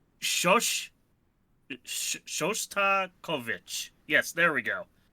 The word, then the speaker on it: Shostakovich: Let's see what happens when I add in some, Shostatovich, if I can't fucking pronounce his name. Shostakovich.